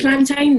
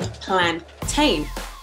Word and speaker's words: plantain: When I'm using these words, it's the same thing that it is in plantain. So the A-I-N, I guess you said mountain, but it's definitely ain't plantain.